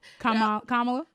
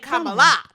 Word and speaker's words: Kamala: Yeah, she put it on like an emphasis on the lie. Kamala. And it's not right. She gave her a little Beyonce accent on the A.